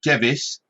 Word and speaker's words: Device: name is spelled device now i listened to english people say it and they said gevis but i'ma say device because i think elizabeth device is a marvelous name and also the kind